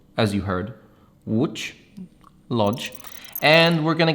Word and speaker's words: Łódź: This is Łódź. Some people pronounce it Lodge.